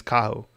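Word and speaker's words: Kaho: And I believe the pronunciation is Cahoe.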